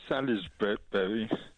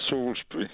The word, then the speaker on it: Salisbury: evening George good evening where is salisbery it's in Wiltshire isn't that Salsbury no it's it's it's spelled Salisbury I tried to call